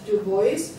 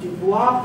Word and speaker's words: Du Bois: Now, another one was Du Bois. It's a French, some people pronounce it Dubois, but in France. Can be pronounced, but generally it's Du Bois.